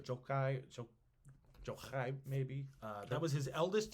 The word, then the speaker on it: Jochi: son named jochi uh j-o-c-h-i is how we would spell it yochi or jokai maybe that was his